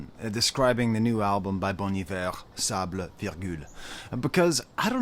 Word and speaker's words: Bon Iver: And whenever I talk about Bon Iver, I call him Bon Iver, because that's how it's spelled. And I always get people correcting me, say, actually, it's pronounced Bon Iver.